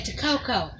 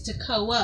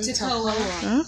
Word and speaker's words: Tocoa: You know, in history class, they say Tococo. And it's not mm-hmm. Tococo, it's Tocoa. That's what I was asking. How do you say it? Yeah, mm-hmm. Tocoa. Okay. Some people say taco.